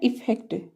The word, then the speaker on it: effect: Second है इफेक्ट। इफेक्ट, EFFECT, इफेक्ट। इसमें भी ई का उच्चारण छोटी ई की ध्वनि में आ रहा है, इफेक्ट।